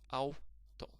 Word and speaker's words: auto: There are only two syllables here. Auto.